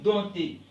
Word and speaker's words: dompter: On dit dompter. Ok, P ici ne se prononce pas.